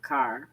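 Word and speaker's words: Kerr: K E R R but it's spelled car. I mean it's pronounced car a perch.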